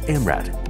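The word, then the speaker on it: MRAD: The robot, pronounced as MRAT, can quickly and easily execute tasks with 10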